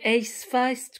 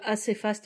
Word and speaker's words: Acefast: Alors, je crois que ça se prononce plutôt Ace Fast que assez fast.